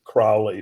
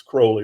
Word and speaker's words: Crowley: lot about um Crowley people sometimes pronounce it Crowley but it's Crowley rhymes with holy so um and I